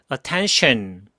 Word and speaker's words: attention: attend이라고 혀가 붙은 상태에서 t나 c 이런 거로 출발을 하면은 chun, chun 이렇게 소리가 납니다. 그래서 attention 물론 좋은 발음이지만 원어민들의 열의 아홉 100명 중에 99명 이상은 츤 이런 소리를 내게 됩니다.